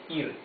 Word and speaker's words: ir: to go verbal okay remember that the r in Spanish if it's not either at the beginning of the word or it's not doubled as Double R then it's not the rough sound of the r it's not R it's smoother sound so this is not it's IR okay verbal IR let's